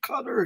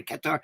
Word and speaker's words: Qatar: do we say it is it carar or Kar she goes Kar Kar Kar and she told me